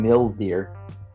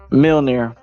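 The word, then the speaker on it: Mjolnir: I'll keep you safe you keep saying M deer like mil deer miler just call it Jonathan I'm not calling the hammer Jonathan you can't say it right Mill men deer M deer M deer yeah M deer it's Miler mail near where are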